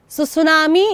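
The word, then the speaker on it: tsunami: अंडमान और निकोबार आईलैंड्स सुसुनामी एक एक्चुअली जापानी शब्द है ठीक है जिसमें टी साइलेंट है और इसका मतलब होता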